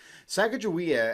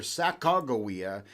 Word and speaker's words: Sacagawea: Sacagawea actually is the more English pronunciation of her name. Rather, Sacagawea is the more appropriate pronunciation, but for the